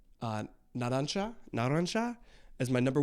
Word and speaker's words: Narancia: I know that's how they're saying it, but then you guys are like, you don't say it like that, you say it like this. So, Narancia.